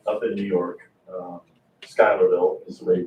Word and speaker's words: Schuylerville: on Hudson River up in New York uh Schuylerville is the way you pronounce it and so but it was a